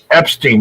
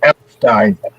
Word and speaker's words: Epstein: Everybody says Epstein. It's actually pronounced Epstein.